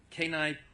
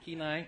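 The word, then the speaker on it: Kenai: all the way from Kai Pennsylvania and Alaska did I say it right ke keenai okay keenai right she's corrected me already twice tonight um she's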